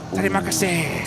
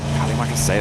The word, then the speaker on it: Terima kasih: Oh, is it Terima kasih, right? Terima kasih, that's it. Yeah, we were learning it whilst we were over there before. Terima kasih, that's what they want to be saying towards the end.